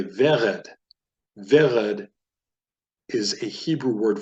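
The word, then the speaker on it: ורד: Vered is a segalet, meaning it has 2 segols that form the basis of it. Also, segalets are enunciated or stressed on the first syllable as opposed to the last syllable. So you pronounce that vered.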